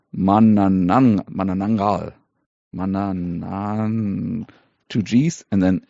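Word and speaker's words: Manananggal: And the pronunciation guide that is in the beginning of the mystery, helpfully says it's Ma Na Nang Gul. So stress on the last syllable.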